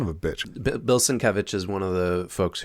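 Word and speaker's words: Sienkiewicz: okay well I recognize Bill Switz svich yeah svich yeah that's how it's pronounced son of a billson kevich is one of the folks who created Legion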